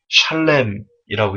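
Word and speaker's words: שָׁלֵם: 여기서 죄악이 관영하다 해서이 관영치가 원어로 샬렘이라고 읽습니다.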